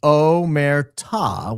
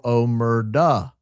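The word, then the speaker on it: omertà: Omerta is pronounced Omerta with a stressed final A, or Omerda, the Italian word.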